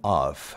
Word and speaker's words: of: 그리고 그 전치사 of 있지 않습니까? 이거는 of 하고 이 V 발음으로 불어주셔야 된다는 거.